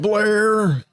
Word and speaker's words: Blair: eight okay so mr blair how did you pronounce your last name blair it's pronounced blair like flair but with a b like p as in